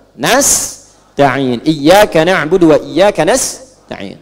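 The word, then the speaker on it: نستعين: Ada yang baca pakai kasrah. Nistain ya. Nistain ini bacaannya dari Bani Asad, Rabiah, dan Bani Tamim. Tapi kita baca harus menggunakan fathah kalau untuk kita ya. Jadi bacanya apa? Nas'in.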